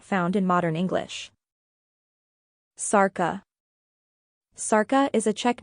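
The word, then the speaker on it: Šárka: Sarka is a Czech name, and the S is pronounced like sh in English.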